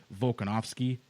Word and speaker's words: Volkanovski: I believe you pronounce his name Volkanovski. Yep.